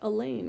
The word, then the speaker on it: Elaine: I might be a short timer, but you don't have to be at school very long to know that Elaine rhymes with pain.